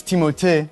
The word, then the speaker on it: Timothée: It's Timothée, but I would not oblige you to say it like that.